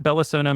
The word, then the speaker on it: Belasono: It's at Bellasono Music. It's spelled a little interesting. It's BELASONO Music.